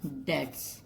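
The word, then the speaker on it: debts: यूज़ करते हैं हम, डेट्स, बी यहाँ पे साइलेंट है, डेट्स बोलते हैं हम इसको।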